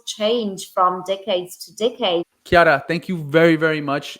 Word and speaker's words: Chiara: they can find me on LinkedIn, Chiara, Chiara, Chiara, although it sounds like a K, but it's Ippoliti, Ippoliti, Ippoliti, and that's me on LinkedIn.